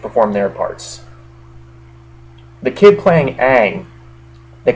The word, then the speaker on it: Aang: The kid playing Aang, they call him Ong in the movie, but his name's Aang, let's face it.